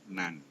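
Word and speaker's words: NAND: dia dikomplemenkanotkan berubah menjadi not n atau biasanya dibacanya nan ini posisi or posisi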